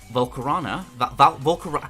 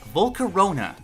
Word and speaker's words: Volcarona: at marking him as a fast electric type volcano i can never pronounce that right volcarona there we go goodness has bright orange wings